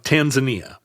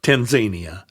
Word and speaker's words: Tanzania: small little region of Tanzania or Tanzania, depending on whether you are going to practice some weird pronunciation of countries. I said Tanzania when I was a kid. Tanzania. Because every other word in English, Romania, sure. Pyromania, all the Romanias.